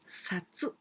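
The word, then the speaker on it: さつ: But this one also can pronounce like satsu.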